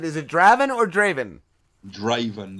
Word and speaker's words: Draven: Draven, like Draven. Raven with a D in front of it, Draven. Oh, that's awesome.